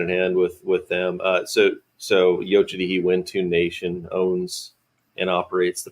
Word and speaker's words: Yocha Dehe Wintun: So Yocha Dehe Wintun Nation owns and operates the property. It's pronounced Yocha Dehe Wintun?